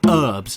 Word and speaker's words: herbs: serious question for americans why do you call them herbs why is there a silent h there what do you live